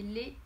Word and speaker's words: le: niveau de la prononciation donc le se prononce le avec le sont eux comme la lettre e le lait donc les se ponce avec comme s'il y avait un accent aigu donc les le et